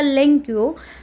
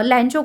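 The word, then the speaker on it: Lencho: इसमें क्वेश्चन बनता है व्हाई डिड लचो या लेंकियो right a letter to गॉड? लचो इज़ a exact pronunciation जो हम ले सकते हैं।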